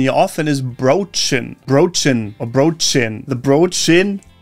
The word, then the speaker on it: Brötchen: The Brötchen, by the way, is a small bread roll. This one trips people up a lot because of the tricky Ö sound. The English mispronunciation here often is Brötchen.